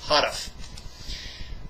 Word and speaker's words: Houteff: You say that Victor Houteff, it's not Houteff, by the way, the correct pronunciation is Houteff.